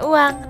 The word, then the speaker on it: Oeyang: Ini tuh bacanya uang, tapi memang ini tuh ejaan lama.